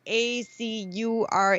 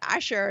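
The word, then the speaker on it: Azure: again Mariana Asher it's a u r e okay standard so I used to pronounce it Aur and then a friend of mine who I met at the co-op she kept talking about Asher and I'm like what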